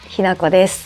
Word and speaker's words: Hinako: my name is hinako h i n a k o hinako is spelled in english i’m also a part of